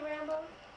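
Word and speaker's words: Rambeaux: Is his name really Rambo? Yeah, but it's spelled R-A-M-B-E-A-U-X.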